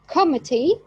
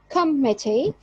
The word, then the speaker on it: committee: For example, in table, table, first syllable here is prominent, and committee, committee, and recommend. Second syllable is stressed.